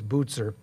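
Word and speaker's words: Bucer: guy named martin butzer it's spelled b-u-c-e-r but it's swiss so it's bootser he said the glory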